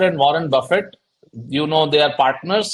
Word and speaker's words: Buffett: greats like Benjamin Graham who Guru of Warren Buffett Warren Buffett of course you all know and that's the correct pronunciation Buffett it's not Buffet it's not he's not lunch